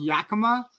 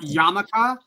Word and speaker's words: Yakima: town that he's from, it's called Yakima, not Yamaka, not Yakimiya. It's Yakima.